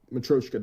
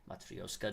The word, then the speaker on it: Matryoshka: It's like Matryoshka doll, but it's like I don't want to hit each consonant super fucking hard.